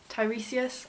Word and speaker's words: Tiresias: Tiresias, I think, is how you say it, who's